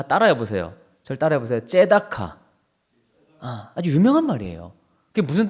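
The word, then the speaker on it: צדקה: 째다카. 아주 유명한 말이에요. 그게 무슨 뜻이냐? 공의라는 뜻이에요. 공의. 호세아서를 배울 때도 인애와 정의와 공의 할 때 그 공의가 뭐냐? 째다카입니다. 뭐 짜다카, 차다카 뭐 여러 가지로 발음이 되는데 근데 지금 이 째다카라는 단어가요.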